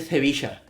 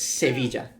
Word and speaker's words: Sevilla: So like S's in Seville get ignored, or it's very SC. So it's Sevilla. So I get it Sevilla. While in where the fuck? Okay, I'm going to the correct place. Where in other places like Cordoba, they pronounce it like Z.